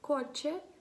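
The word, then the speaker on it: coche: Прикладом може бути слово коче. Коче. Так, бачите, в цьому випадку звук, перша буквочка ця Фе, вона читається як К.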